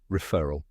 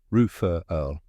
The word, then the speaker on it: referral: Ruh, like the beginning of return. Fur, like the soft fur of an animal. A quick light sound at the end. Now say it with me. Ruh-FUR-uhl.